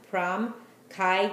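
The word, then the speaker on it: Pram Kai: l the other one that I mentioned before is spelled p r a m prom Kai k a i and then mea that's three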